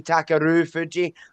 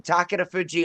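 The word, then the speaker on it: Takarufuji: path and I always when I say his name I say takaru Fuji like I'm stupid but see because in my accent you don't know if I'm saying takar Fuji or takaru Fuji you know what I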